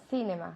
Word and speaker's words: cinema: Cinema. Yes. So nunca decimos cinema. Cinema, la C en inglés no es Z. C no. Es como si fuera una S.